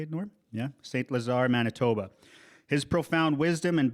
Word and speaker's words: St. Lazare: Yeah, St. Lazare, Manitoba.